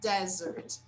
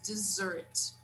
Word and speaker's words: dessert: some dessert okay guys be careful it's not desert it's dessert okay would you like